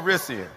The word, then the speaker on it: Calrissian: I heard an extra syllable. I heard an extra syllable. Calrissian.